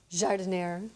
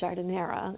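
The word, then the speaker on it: giardiniera: Because I always thought it was jardiniere. No, it's jardinera if you're really Italian.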